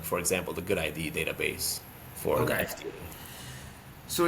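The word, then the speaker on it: GUDID: like for the US they have the good ID it's spelled G U ID um that stands for global unique device identif ification database.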